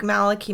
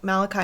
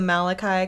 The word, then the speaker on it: Malachi: it all kind of ties in because like maliki martin malachi martin sorry his name is pronounced two different ways two different ways and so we were on the malachi camp and then we heard some interviews where